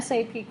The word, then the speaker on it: SAP: And how to pronounce it? S-A-P. Spell it out. Believe it or not, I can't tell you how many people have referred to it sort of like a syrup. You know, it's sap.